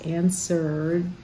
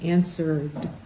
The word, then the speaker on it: answered: things it's not answer that W is silent and because the r has voice answered we have it at the end answered you can't imagine how